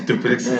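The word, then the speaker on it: Dricus Du Plessis: Dracus Duplessis.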